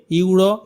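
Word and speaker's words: euro: Chocolate ice cream cost A ইউরো in France. ফ্রান্সের chocolate আইসক্রিমের দাম এক ইউরো। এর উচ্চারণটা কনসোনেন্টের মত।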